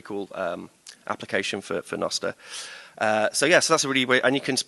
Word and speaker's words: Nostr: and now we're able to build that on noar which is perfect by the way I pronounced it noar because uh there is a video somewhere out there the first video ever um on nosta where me f jaff um JB and a